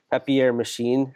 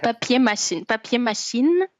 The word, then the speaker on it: Papier Machine: I'm totally pronouncing this wrong. Papier machine. How do I say it correctly? Papier. Papier machine.